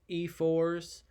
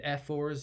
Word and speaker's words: ephors: would also choose five I've heard this word pronounced two different ways I've heard it as ephors and F fours as well I'm gonna say e fours just because I feel like the other one sounds like I'm trying to not say